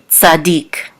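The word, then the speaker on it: צדיק: what we know that the accent is on the last syllable deke Sadiq so Noah ish Sadiq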